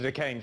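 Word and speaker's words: Duquesne: Stanley Druckenmiller, Chairman and CEO of the Decane Family Office. Turns out the S is silent.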